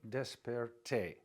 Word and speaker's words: desperté: Eran las 6:30 cuando me desperté with an accent on the E at the end.